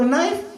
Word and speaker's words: knife: In English, they put silent letter. For knife, they put K.